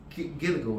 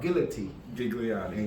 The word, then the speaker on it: Gigliotti: He is part of the Council of Seven, and he is called General Carlos Gilligo. I might say it wrong. Gigliotti. Yes.